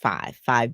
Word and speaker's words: Phive: But you really talk about week 3, um 5 breathing method, and it's PHIVE, but it's pronounced five breathing method.